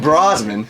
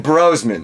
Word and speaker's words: Brosman: He told us at Mo Game Con this weekend that, hey, you're saying my last name wrong. And it's like, you're telling us now? Yeah. So we were calling him Brosman. It's Brosman.